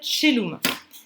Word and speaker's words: caelum: Donc le caelum, en latin médiéval, ça va se dire celum.